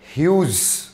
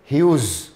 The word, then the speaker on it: Hughes: ये है ह्यूज, टेड ह्यूज।